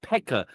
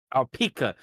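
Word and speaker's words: P.E.K.K.A: Just to know, Kane, as the word that Drop mentioned, is called Pekka or Pika. Some people pronounce it Pekka or Pika, but to see Kane as that is pretty ironic.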